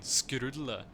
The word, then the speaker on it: Skrulle: Skrulle. That's how you would pronounce this in Norwegian. Skrulle.